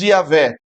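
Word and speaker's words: Javé: mais sagrado de Deus, que nós na nossa língua pronunciamos Yahé. Ah, mas é interessante nós sabermos que quando Deus se revela assim como Yahvé, Deus dá, entre aspas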